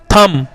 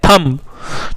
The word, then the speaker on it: thumb: English यहां पर thumb3 थम कि थम विद थम नहीं है यह थंब ठीक है थम तो यहां पर हमारा कौन सा हमारे लेटेस्ट साइलेंट हुआ यहां पर हमारा बे साइलेंट हुआ एक बार फिर से